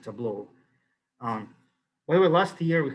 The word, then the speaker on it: Tableau: data visualizations called tableau how do you pronounce it by the way i pronounce this table is this correct pronunciation well anyway something like this i keep forgetting the correct pronunciation so i'll pronounce it tableau um well last year